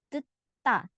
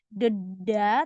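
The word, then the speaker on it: 듣다: Selanjutnya yang ini dibacanya deta. Ini dibaca T, ini juga dibaca T. Jadi bukan deda, tapi deta.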